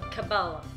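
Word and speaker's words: Kabbalah: of the Mystic sorry uh cabala is it cabalo I I don't know how to pronounce that wait let me check say okay so it's uh cabala cabala the study of the mystical aspects of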